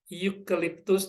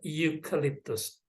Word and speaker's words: eucalyptus: Berikutnya adalah eucalyptus dan eraser. Ya, keduanya sekali lagi menggunakan huruf vokal, tetapi pelafalannya berbeda. Yang pertama, ya, bunyinya diawali dengan bunyi konsonan Y, eucalyptus.